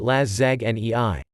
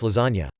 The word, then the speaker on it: lasagna: I would intentionally mispronounce lasagna all the time in front of my brother, pronouncing it laszagne. He'd correct me every time, then eventually gave up. Then one day he says, "Want laszagne for lunch?" To which I reply, "It's pronounced lasagna."